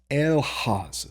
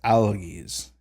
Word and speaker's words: elhaz: Then we have elhaz. Elhaz. Elhaz. So you have that i-umlaut sound yet again for H. Sometimes you'll also see this reconstructed as alges.